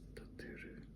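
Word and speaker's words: 建てる: The Japanese pronunciation is Suki. Suki. Suki. Yeah. It's Suki. To build is tateru.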